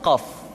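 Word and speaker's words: قاف: Huruf qaf diucapkan dengan cara menyentuhkan pangkal lidah kita dengan langit-langit bagian belakang.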